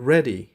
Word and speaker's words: ready: و این کلمه به شکل ready تلفظ میشه. ready اینجا یک واول کوتاه داره که به شکل ready باید تلفظش کنیم. ready تلفظش نکنین.